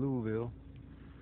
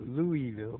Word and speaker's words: Louisville: Not Louisville, but Louisville. That's how you say it if you're from the area, I think. They know you're from somewhere else. You say Louisville. Louisville. Like Missouri. Don't say Missouri, you say Missouri.